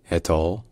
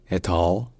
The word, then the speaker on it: et al.: La seule constante, c'est que il y a toujours l'accent tonique sur la dernière syllabe.